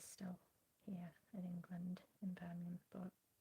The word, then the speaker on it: Birmingham: Well, I mean, that's how I pronounce it, Birmingham.